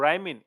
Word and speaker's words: Brhymin: Oh bro, राइमिन, it's राइमिन I think. B is silent मेरे ख्याल से and it's राइमिन।